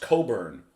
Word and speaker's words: Cockburn: name is spelled Scott Das cockburn and he's pronounced Coburn well then change his name to Coburn but